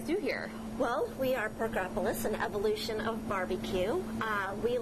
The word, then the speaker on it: Porkopolis: morning in Carmel at Porkopolis. Did I say that correct, Anna? No, I don't think you did. I think it's Porkopolis. Isn't that how you say it?